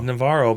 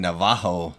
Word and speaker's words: Navarro: It looks like It looks- Navarro. Navarro, but But they kept saying Navajo. Navajo is that like Portuguese or something? I don't know. Maybe he is from there. But that's how they were pronouncing it, and I think it